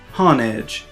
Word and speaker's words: Honedge: However, some of those people miss that the first part is hone, which is a word for sharpening, as in when people say to hone your skills. There's even a move in the game called Hone Claws that says the user sharpens their claws to raise their attack. Nobody calls that move Hon Claws.